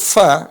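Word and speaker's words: ف: makhraj huruf Fa huruf Fa Di mana tempat keluarnya gigi seri ketemu dengan bibir bawah perhatikan Fa coba ikutin Fa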